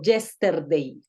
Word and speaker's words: yesterday: No, acuérdate que tenemos que empezar a buscar ese sonido schwa. Ese sonido schwa que encontramos, en este caso se encuentra en la E. Yester, yester, yesterday. Por el matiz de la R. Yesterday, Yesterday. Listo, yesterday. Esta E tiene un sonido schwa.